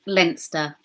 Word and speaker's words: Leinster: It's pronounced Leinster.